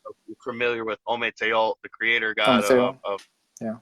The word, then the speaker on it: Ometeotl: Really, the more historical accurate of the two is Ometeotl. So, and you pronounce the L.